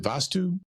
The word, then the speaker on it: Vastu: know that you're, and forgive me if I mispronounce it. Is it Vastu?